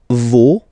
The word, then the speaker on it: vos: Okay, and then for the plural, no, vos, and then leur. Okay, so remember, even if you've got this final s, you don't pronounce it, as it was the